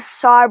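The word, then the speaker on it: Tsar: nuclear bombs like the SAR bomb uh it isn't S A it's actually TS a bomb uh but you don't pronounce the T okay they're equipped with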